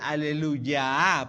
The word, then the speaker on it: aleluya: de lo que es aleluya de hecho la pronunciación más cercana es como una y común aleluya porque tiene que ver